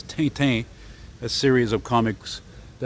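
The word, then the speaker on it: Tintin: the uh the uh what's known in English as rent or in French which is correct spell pronunciation is tainten a series of comics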